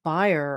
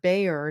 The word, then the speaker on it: Bayer: a bad name that buyer or Bayer depending on where you live in the world how you pronounce that name they bought Monsanto and